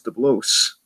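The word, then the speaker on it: DeBlois: Dubois was like no it's not the bots the blows how stupid I was anyway so I said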